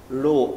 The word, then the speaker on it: rho: अब देखो resistivity is denoted by resistivity is denoted by रो. इसको हम लोग क्या प्रोनाउंस करते हैं? रो, RHO, रो.